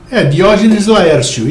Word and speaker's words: Diógenes Laércio: ou se você qual como que se pronuncia o nome dele em português Diógenes Laércio isso mesmo tempo ele ela falou